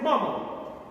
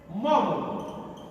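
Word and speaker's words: Maugham: উপন্যাস William সোমার সেট মোমো William সোমার সেট মম উচ্চারণটা move হবে না হবে মম এই অফ হিউম্যান বন্ডেজ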